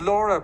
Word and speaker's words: Laura: And now we are going to virtually beckon our other guest speaker, whose name is Laura, pronounced in the Irish way, I'm happy to say.